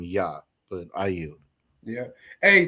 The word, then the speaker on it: Jah: to his name as Jah, right? And when you're dealing with ancient Paleo Hebrew, right, the letter J literally goes into the pronunciation of Y, which is why we call him Yah.